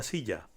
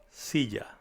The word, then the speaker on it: silla: Depending on the region, there are variations in how the double L is pronounced in Spanish. However, we will concentrate on the most commonly used pronunciation, which is very similar to the J sound in the English word enjoy, but somewhat softer.